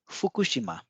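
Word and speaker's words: Fukushima: साल पहले खुशी मां अब फुकुशिमा को कैसे उच्चारण होगा कोशिमा अच्छी यहां पर जो और ख के बीच में जो यू की मंत्र है यह डिवाइस होगा लेकिन और के बीच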